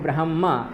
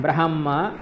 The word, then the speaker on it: ब्रह्मा: ब्रह्मा ब्रह्मा ठीक है ह का उच्चारण करना मतलब ब्रह्मा बोलते हैं ठीक है ब्रह्मा बोलते हैं तो ब्रह्मा ऐसा हो जाता है ब्रह्मा अलग है और ब्रह्मा ह है ब्रह्मा ठीक ह का भी उच्चारण आना चाहिए ब्रह्मा यम ब्रह्मा वरुणेंद्र